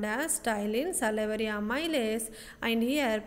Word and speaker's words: ptyalin: It is commonly called as ptyalin, salivary amylase, and here P is the silent. So you have to pronounce like the ptyalin.